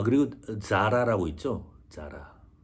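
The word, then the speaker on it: Zara: 회사 패션 기의 대기업인데 우리는 자라라고 하지만지 발음을 스페인어권에서 쓰 번데기 발람 비슷하게 합니다 그래서 사실은 우리가 현재 가서 들어보면 싸라 싸라 거의 이런 식으로 들립니다 참고하시고요 it 쪽은 우리가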